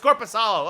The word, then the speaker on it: Korpisalo: It's Korpisalo.